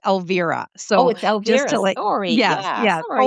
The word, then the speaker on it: Elvira: And my first name is pronounced Alvivera.